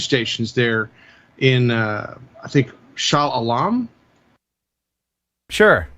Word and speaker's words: Shah Alam: there in, I think, Shah Alam. Sure. Is that how we pronounced it in rehearsal? Yeah, sure. Okay. We'll go with that. All right. I'll go with Shah Alam.